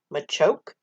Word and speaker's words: Machoke: be m-a-h ma no because the word macho is pronounced macho and it doesn't but macho isn't in its actual name literally m-a-c-h-o in machoke is how you spell the word macho m-a-c-a if you take the k-e off of the end of